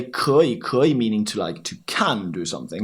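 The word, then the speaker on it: 可以: And then many foreigners just blend the 2 words. So it would be like 可以. And also, they don't like to say 可以, so they say 可以.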